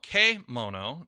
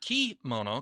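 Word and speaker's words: kemono: there is a kimono k mono not key mono k uh the e sound is usually pronounced as an a that's the japanese term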